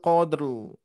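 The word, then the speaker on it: قدر: Nah, di ayat pertama untuk pengucapan atau cara mewakofkan, bunyi mewakofkan huruf ro ini tentunya ro-nya terdengar sedikit tapi jelas juga ya. Inna anzalnahu fi lailatul qadr. Qadr. Nah, ro-nya tentunya terdengar jelas ya.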